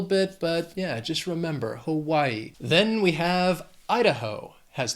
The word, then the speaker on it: Hawaii: It's our only island state, Hawaii. It has 3 syllables, stresses on that second syllable, Hawaii. And again, the spelling can throw off the pronunciation a little bit, but yeah, just remember, Hawaii.